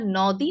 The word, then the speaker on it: নদী: দেখুন তো, এই দীর্ঘিকার থাকার কারণে আমরা নদী না বলে বলি নদী।